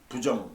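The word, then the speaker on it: 不正: 부정 부당. 그러니까 아니 불자 다음에 지읒 이시나 디귿이 오면 그거는 불이 아니라 부라고 읽어요.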